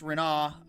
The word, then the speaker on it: Renoir: Renoir, pronounced Renoir because that's how you say it in English.